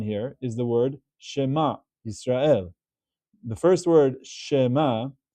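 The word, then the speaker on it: ישראל: But we don't pronounce this as Shema Yisrael. It's not a Sheva Na. It's not the same as Shema Serael. It's closing the syllable, and it's actually Yisrael.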